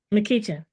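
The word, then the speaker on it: McEachin: Donald Oh my gosh, I'm going to mispronounce it, Jen. Can you help me? McKeechan.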